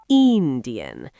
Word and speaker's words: Indien: In German, the I is usually a bit longer, so it's more like Indian.